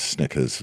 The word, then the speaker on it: Snickers: and now then it was Snickers, rhymes with Knickers.